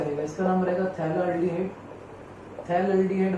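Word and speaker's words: phthalaldehyde: थैलाल्डिहाइड बोलेंगे हम इसको, थैलाल्डिहाइड। P साइलेंट है इसमें, थैलाल्डिहाइड।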